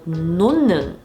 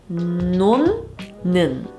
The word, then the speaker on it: 놓는: When the 받침 Hieut is followed by a ni은, a nasal sound, then the Hieut is pronounced like a ni은. Let's look at 2 more examples. We have the word 놓는, 놓는.